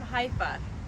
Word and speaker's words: Haifa: All right, so good morning, everyone, and good morning from Haifa. I said it right. Yes, you did. Not Haifa, Haifa.